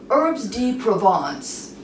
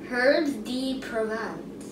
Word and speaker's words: Herbes de Provence: Herbes de Provence. What? That's spice. It's a new spice. How do you pronounce it? Herbes de Provence.